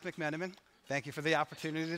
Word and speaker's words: McMenamin: connection today so again my name is mcmenamin pronounced mcmenamin thank you for the opportunity to try I